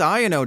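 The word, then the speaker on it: Iono: typical lightning deck that wants electric generator this IO deck and yes that's how you pronounce it according to the anime prefers Superior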